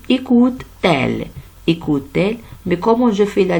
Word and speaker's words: écoute-t-elle: On dit écoute, elle, c'est un peu lourd, alors on dit écoute-t-elle, mais comment je fais la liaison ici avec un trait d'union ici?